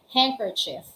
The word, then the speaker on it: handkerchief: Handkerchief. So, eto na nga. Akala ng iba, yung handkerchief, wala siyang letter D since letter D is not pronounced. It's silent letter D.